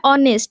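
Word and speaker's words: honest: নেওয়া কিছু এক্সাম্পলস জেমিতে কি আনঅনেস্ট ম্যান এটা অনেস্ট আমি অনেস্ট কৌচে কি অনেস্ট কহচে তার মানে এস টা হচ্ছে সাইলেন্ট লেটার যাহার কি সাউন্ড আসনি টোটালি আন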